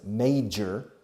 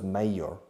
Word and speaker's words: major: Nowadays, hoy en día, nowadays in Madrid, Barcelona, in every major city in Spain, principales ciudades, major, la pronunciación, no es mayor.